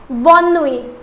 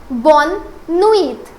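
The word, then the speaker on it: bonne nuit: Now please pay attention here that I have heard many of my students they try to pronounce bonui as bonit then I would say it's totally wrong.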